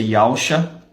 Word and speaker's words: Yahusha: Temos aqui o nome, que se pronuncia Yahusha.